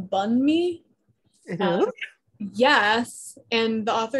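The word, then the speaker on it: bánh mì: enticing personally um the bond me handbook which i actually learned from this book it's pronounced bun me um yes and the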